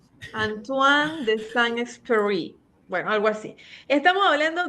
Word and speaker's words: Antoine de Saint-Exupéry: Estamos hablando, y tú me vas a corregir el francés, Anthony de Saint-Exupéry. A ver, dígamelo usted cómo es. Sí, el nombre se pronuncia en francés, Antoine de Saint-Exupéry. Antoine de Saint-Exupéry.